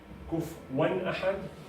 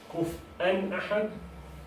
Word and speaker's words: كفوا: You can pronounce it in 4 ways. All of them are acceptable. Kufwan Ahad, Kuf'an Ahad, Kufuwan Ahad, and Kufu'an Ahad.